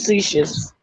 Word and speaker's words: facetious: say it for cease how they say it facetious facetious right he said it right grabbing hearing people on